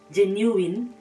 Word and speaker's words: genuine: guys the next word we are used to pronouncing wrongly is the word genuine you can see that after me genuine so nigerians will always say do you know